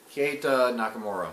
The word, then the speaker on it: Keita Nakamura: Keita Nakamura, yeah. Keita Nakamura, he's a good welterweight experience, but he hasn't fought the likes of Tom Breeze.